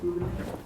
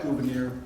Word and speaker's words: Gouverneur: Is that how you pronounce it? Gouverneur?